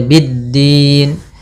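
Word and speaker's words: بالدين: pfal Bidin di sini ada alif lam syamsiyah yaitu alif lam yang ditulis tapi tidak dibaca langsung saja biddin Kemudian pada lafal Din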